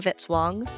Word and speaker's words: Vitz-Wong: Music by Kevin Vitzwong, rhymes with hit song.